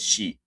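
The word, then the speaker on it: し: But this you just pronounce it tsu, and you say ti, you say chi, actually, and si is she.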